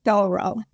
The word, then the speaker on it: Thoreau: I learned how to say his name, Thoreau. Not no, Thoreau. Everyone says it wrong.